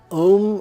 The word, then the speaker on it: Om: Om rhymes with home.